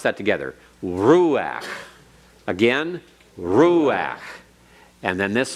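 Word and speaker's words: רוּחַ: it it's under final gut rolls and it's pronounced ahead of that guttrell now remember that it does not accented you don't say ruach it's ruach you put the accent on the roux and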